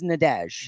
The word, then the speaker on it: Nadesh: She's Nadesh. But I pronounced that right.